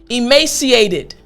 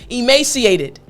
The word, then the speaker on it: emaciated: Listen closely, emaciated. There's an id sound. So even though we have ed at the end of the word, it's not ed, it's emaciated.